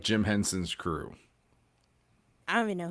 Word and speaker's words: Henson: Henson. Okay. Rhymes with Jensen.